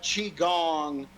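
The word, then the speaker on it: qigong: to look it up Chong starts with a Q Qi g n g chong chong actually his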